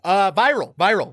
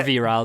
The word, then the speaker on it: Viral: Viral. Yes. Or virile, depending on your pronunciation choice.